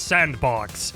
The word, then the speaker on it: S&box: The game I was talking about is called SN Box, which I'm pretty sure is just pronounced as Sandbox, and a release date for it is unknown as of now.